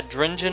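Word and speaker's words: Drengin: And yeah, Drengen is how you say it.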